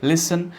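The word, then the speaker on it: listen: अरे बात सुनो, ऐसे बोलते हैं ना, अरे बात सुनो, हे लिसन, हे लिसन, इसमें टी जो है वो साइलेंट रहता है, आपने बोलना है हे लिसन, लिसन only, लिसन, okay.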